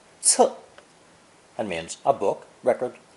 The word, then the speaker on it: 册: This collection of strips is pronounced fourth tone, 册, 册, and means a book, record, or register.